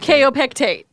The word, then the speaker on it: Kaopectate: Food you ate, Rhyming with kaopectate. kaopectate.